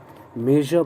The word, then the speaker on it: measure: पढ़ते इसे ध्यान रखें, मेजर का प्रोनाउंसिएशन बहुत ही स्पेशल है। आप समझें यूँ कि तालव्य श और ज जो बोलते हैं श एंड ज, इस दोनों के साउंड को मिलाकर बोलना है, तो सुनाई देगा कुछ।